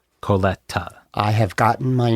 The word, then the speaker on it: Colletta: My name is Coleta. And you pronounce it the way it is spelled if you do it through the hyphens. C O L L E T cola t a coleta coleta I have gotten my